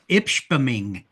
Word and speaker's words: Ishpeming: It's Ishpeming. Ishpeming, yeah.